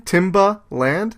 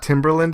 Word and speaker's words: Timbaland: name Timberland Timberland okay that's that's how you pronounce his name Timba land like Tim I think it's one word but it's like it's not Timberland it's it's Timbaland we'll look it up maybe